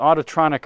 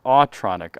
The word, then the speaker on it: Autronic: This is the Autotronic eye that senses oncoming headlights and automatically dims them. I shouldn't say autotronic, Autronic eye. I added an extra syllable there.